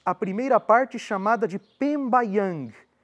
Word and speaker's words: pembayang: Nós temos a primeira parte chamada de Pembaang. Pembayang se escreve P e M B A Y A N G.